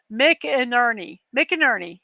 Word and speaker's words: McInerney: Well, it has a pronunciation right here. McInerney.